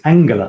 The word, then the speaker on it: Angela: It's Angela, and I asked her how she spells it, pronounces it, and she said Angela, like in English.